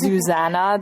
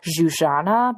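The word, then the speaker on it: Zsuzsanna: I've been calling her Zuzana this whole time, and you taught me that it's Zuzana Budapest. Zuzana, yeah, like, again, that's my Hungarian heritage coming through with the European pronunciation.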